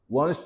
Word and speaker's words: wants: My group wants to hold a fashion show. 그냥 T는 거의 발음하지 말라고 했어요. 그냥 wants to hold a fashion show.